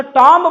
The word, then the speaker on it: tomb: जब एम के बाद बी आए, जब एम के बाद बी आए तो बी साइलेंट होगा।